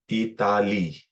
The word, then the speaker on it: Itali: just spell it as spell in Fijian Italy will be e e t a what the two letters again remember if you're practicing your alphabet okay and kicks into effect the pronunciation guide Itali Itali okay so that's that